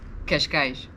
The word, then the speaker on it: Cascais: to ask you a portuguese speaker how to pronounce these places for our benefit so where we are now we say cascais cash cash cash cash okay that's good that's good excellent